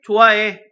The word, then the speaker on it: 좋아해: 또한 모음으로 시작한 어민을 만나면 탈락합니다. 탈락. 좋아해서 난 널 좋아해. 발음할 때 좋아해 라고 발음하는 것처럼요. 알아두시면 좋을 것 같습니다.